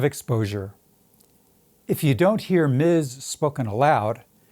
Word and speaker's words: Ms: If you don't hear Miz spoken aloud, how are you supposed to know?